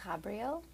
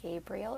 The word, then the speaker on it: Ghabrial: so as I said my name is Cabrio you can pronounce that Gabriel or Gabrielle as I know that's a bit easier for people I use she her